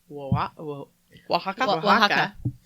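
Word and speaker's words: Oaxaca: learned how to spell the state in Mexico wa Waka o a x a CA yeah something like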